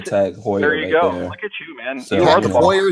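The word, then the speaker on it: Heuer: Hoyer there you man Hoyer is how you say it I always call it tag how oh I think I believe it's tag Hoyer but I could be wrong I don't think I've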